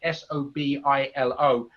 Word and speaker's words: Sobilo: So that's the way you pronounce her surname, Sobilo.